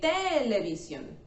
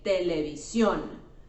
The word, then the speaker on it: televisión: And we don't say televisión, we say televisión.